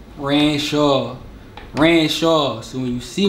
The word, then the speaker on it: Ranshaw: your name my name Rancho Rancho so when you see me in the street you talk about me whatever don't pronounce it Shaw ran in Shawn I hate that Renshaw I'm from Philly of